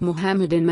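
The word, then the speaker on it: מחמדים: Mizrahi Jews realize and pronounce the letter Het in Hebrew as Het is pronounced in Old Hebrew. Therefore, when a Mizrahi Jew read Mohammedim in Bible, he or she will read it Mohammedim and nothing else, because the letter Het is pronounced in original ancient Hebrew.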